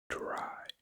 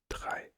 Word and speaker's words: drei: But that's why this is not dry, like dry, but it's drei.